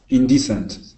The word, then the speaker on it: indecent: here that I'm highlighting that word is indecent indecent good with that accent right on this uh this first e okay indecent nice job